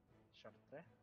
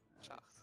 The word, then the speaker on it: Chartres: Chartres? Shit, dude, that's not how you say it. Chartres. It's how it's supposed to be said.